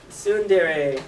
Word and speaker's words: tsundere: have nicknamed her the Queen of Sundraya. Tsundere. Yeah. I put the pronunciation. Yeah, this does not say English here, folks. She turns 38. She's the Queen of Tsundere.